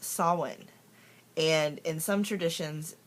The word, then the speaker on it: Samhain: but actually it's pronounced sawin and in some traditions it's pronounced Savin um when I first started my path I said it like everybody else says it when you first look at it Sam Hayne but it's